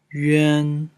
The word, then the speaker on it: yuan: Ensuite, yuan, c'est comme u plus un en français.